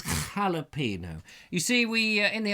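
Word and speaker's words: jalapeño: Steve says, I'm in shock that Vobes knows that jalapeno is pronounced with an H.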